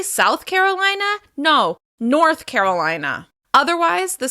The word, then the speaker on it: South Carolina: Next up, South Carolina. South Carolina. As you can hear, we're stressing the third syllable of the second word. South Carolina.